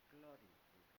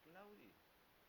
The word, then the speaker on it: Claudi: A Publi Clodi no Publi Claudi Pulcre. Un aristócrata del segle tres abans de Crist. Mai en la vida s'haguera fet anomenar Clodi. Clodi es una forma de pronunciació vulgar i distorsionada que segons conten va adoptar Publi Claudi Pulcre.